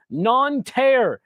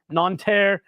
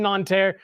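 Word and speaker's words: Nantes: getting back to Paris non te is where it is today I'm sure that was the most American possible pronunciation uh of that City non uh is where the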